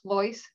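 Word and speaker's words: Pleuss: Sam they can find me on LinkedIn plois the franchise fitter and because my last name is somewhat a difficult to pronounce and B difficult to spell that's why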